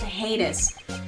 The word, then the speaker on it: heinous: It's pronounced heinous.